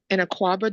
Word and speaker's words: Akuaba: so what that particular image is, it's an Aquaba doll, and it's a symbol of protection when a woman is pregnant.